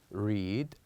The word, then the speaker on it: read: So here we said that with EA, they are pronounced differently in different words. So for example, here we pronounce it as sleep, read, and head. Sleep, read, head. So in sleep and read, we have a longer vowel. But with the last one, we have a very short one.